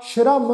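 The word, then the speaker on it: ਸ੍ਰਮ: अखर आ जी मम्मा, इस शब्द का पाठ उच्चारण करना वा जी श्रम।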